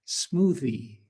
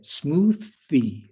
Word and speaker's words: smoothie: Not but smoothie. Smoothie. Smoothie. Okay. So, don't say smoothie. There will be a problem. So, you need to say smoothy. Smoothie. Bring your tongue to your lips.